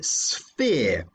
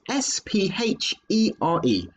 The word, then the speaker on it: sphere: And the name for that is a sphere. That's spelled S-P-H-E-R-E, sphere.